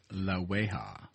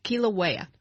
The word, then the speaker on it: Kilauea: Kilauea. Yeah, Kilauea. And that is probably the only Hawaiian word I'm going to pronounce correctly because most of them, I tried